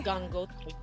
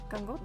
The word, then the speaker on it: Gangotri: Yeah, where you test the pronunciation and stuff. Okay. Gangotri. Gangotri.